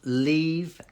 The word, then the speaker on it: leave: or can you pronounce leave and live okay yeah they are similar but one has the e sound so Lee look at that Lee leave and then to get the V sound it's like the think